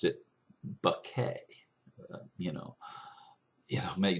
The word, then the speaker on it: Bucket: u c ke T which in my English would be pronounced bucket but she wanted it to sound more elegant and so she pronounced it bucket you know you know